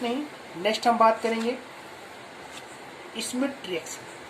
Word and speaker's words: Schmidt: Next हम बात करेंगे स्मिथ reaction. स्मिथ SCHMIDT, डी यहाँ पे साइलेंट है।